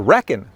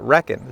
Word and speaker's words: Rekon: he works with hglrc and since he's the designer if you watch his videos he calls it the reckon he he pronounces that reckon so he's right i'm wrong the only problem is